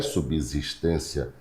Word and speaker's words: subsistência: Não é subsistência, é subsistência, subsídio, subsidiar.